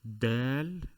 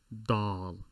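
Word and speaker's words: دال: the d sound remember it is del not doll so if you're pronouncing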